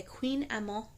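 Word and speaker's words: kouign-amann: will be making um there's a pastry called a queen ammo it's spelled k-o-u-i-g-n um a-m-m-o-n and it is French I thought that it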